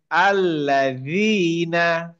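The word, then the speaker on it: الَّذِينَ: practice করেন এটা হচ্ছে আল্লাজিনা আল্লাহ এটা তো আল্লাজিনা ভালো আল্লাজিনা আল্লাজিনা জীবটা দাঁতের সামনে আল্লাজিনা আল্লাজিনা আল্লাজিনা আল্লাজিনা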